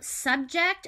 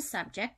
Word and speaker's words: subject: So we had subject. It has two parts of speech. So noun, the thing that you're talking about, is a subject, the topic. In the verb format, this word is pronounced subject.